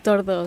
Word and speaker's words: Tordó: Y es Tordó. Tordó, Con acento en la...